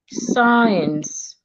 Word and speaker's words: science: So when we have letter C after S, as in the word seen, we say that letter C is silent. Science. Letter C becomes silent.